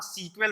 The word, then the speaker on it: SQL: काफी टाइम पहले जब ये बनी थी तब इसका ओरिजिनल नाम सीक्वेल था। अभी भी कई लोग सीक्वेल बोलते हैं, सीक्वेल कई बार बोलते हैं, सीक्वेल आती है तो आप ऐसा ना सोचेंगे कि वो गलत बोल रहा है या उसको प्रोनाउंसिएशन नहीं